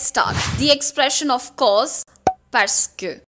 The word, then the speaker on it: parce que: The expression of course, parce que. Let's first quickly polish the pronunciation of parce que. Parce que. Parce que. Parce que. Parce que. But when we speak quickly, we say parce que.